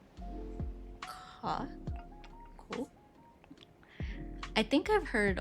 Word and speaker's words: gogh: fun fact, English speakers tend to say go or goth, but the Dutch way of saying it would actually be closer to ka.